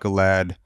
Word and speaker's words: Gilad: reading the article about your brother Gilad. Is that how you pronounce it? Yeah. You wrote about Gilad.